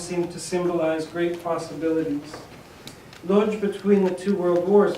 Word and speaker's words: Łódź: And I call it Łódź, open city, and I'll just play it safe and use the North American pronunciation, because you'll sense what